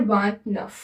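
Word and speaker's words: vingt-neuf: इसको व, इसको नफ साथ में मिला के बोलते हैं वांट नफ।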